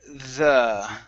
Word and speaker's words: the: to the word uh the okay to have the necklace instead of z okay instead of a z sound make sure you're using your tongue to pronounce the sound okay so it's the